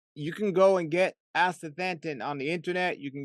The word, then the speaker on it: astaxanthin: Most people can't pronounce that, but it's astaxanthin. It's a it's an algae that comes in some lakes and but you can go and get astaxanthin on the internet.